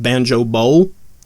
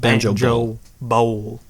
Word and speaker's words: Banjo Bowl: It's pronounced Banjo Bowl, not Banjo Bowl.